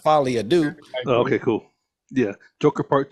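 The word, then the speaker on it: Folie à Deux: meaning of it but it still pronounced fad do okay cool yeah Joker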